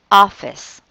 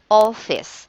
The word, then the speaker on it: office: Because according to the rule, the letter O is pronounced as sometimes a short O like ah. Example, imagine, say that again, it's ah. Like the word office, right? It is pronounced as office, not office, but office.